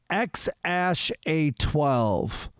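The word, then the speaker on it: X Æ A-12: on the podcast that the kids name is pronounced x-ash a12 it is x and then i should that's the greek a e yeah and then a dash 12.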